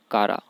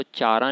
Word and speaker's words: Chara: इसमें CH को का बोलते हैं, CHA का, और रा। इसको चारा नहीं पढ़ना है चारा भी कह सकते हैं हम, लेकिन असल में इसका जो प्रोनाउंसिएशन होता है उसको कारा बोलते हैं।